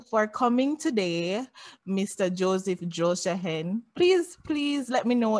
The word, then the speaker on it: Drolshagen: pronouncing the name properly absolutely it's drawl shakin and it is a very complex name it took me 40 years to learn how to say it okay again yes okay